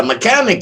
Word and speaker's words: mechanic: unacceptable all right yeah mechanic you got that right the h is silent what does a mechanic